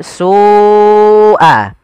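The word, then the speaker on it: سُوءَ: Karena pada lafal su awalnya dia 2 harokat, karena datang setelahnya huruf hamzah dan hamzah tersebut pada satu kata, maka kita namakan dengan mad wajib muttasil. Jadi kita membacanya seperti apa? Su'a. Su'a, ya, dipanjangkan dahulu.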